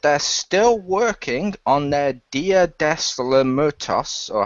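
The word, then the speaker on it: Día de los Muertos: They announced that they're still working on their Dia des Muertos, or how you pronounce it, movie. Dia de los Muertos, yeah.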